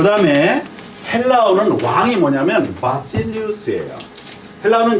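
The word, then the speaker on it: Βασιλεύς: 바실리우스예요. 바실리우스. 해보세요. 같이 발음 시작.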